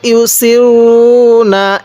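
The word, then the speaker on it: يصرون: ওয়া কানু ইউসিরুনা আলাল, অনেকেই সটটাকে সিন উচ্চারণ করি না, সতের মাখরাজ আলাদা, সিনের মাখরাজ আলাদা।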